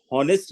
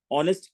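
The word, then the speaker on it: honest: होने के बावजूद हम हॉनेस्ट नहीं पढ़ रहे हैं, और यहाँ पे भी एच के होने के बावजूद हावर नहीं पढ़ रहे हैं, आवर पढ़ रहे हैं, ऑनेस्ट पढ़ रहे हैं।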